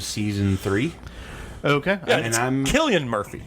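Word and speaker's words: Cillian: i think around season three okay and i'm killian murphy killian murphy yeah they don't do that but they pronounce it it sounds poor spelled with this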